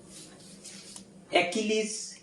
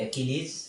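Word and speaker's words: Achilles: একটা হচ্ছে অ্যাকিলিস হিল, এটা উচ্চারণ সহ আমরা লিখব। চমৎকার একটা ইডিয়ম, এটা দন্ত স উচ্চারণ করা যায়, বর্গীয় জ দিয়ে উচ্চারণ করা যায়, অ্যাকিলিস অথবা অ্যাকিলিস হিল।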